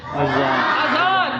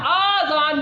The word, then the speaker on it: اذان: کا جواب درست ہوا، بچے نے بتایا کہ درست تلفظ ہے اذان، آذان نہیں ہے، آذان اذان ہے۔ کیا درست تلفظ ہے؟ بعض لوگ اذان کے اوپر مد لگا دیتے ہیں، آذان، یہ غلط ہے تلفظ، آذان۔ اس کا تلفظ کیا ہے؟